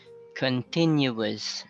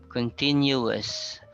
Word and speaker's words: continuous: Continuous. So this is different from the word that ends in UES. Continues. Continuous. Continues is a verb, while continuous is an adjective, like continuous paper.